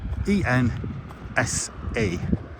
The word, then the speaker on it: Edensor: So Edensor, spelt Edensor, pronounced Edensor, E-N-S-A, Ensa, short A.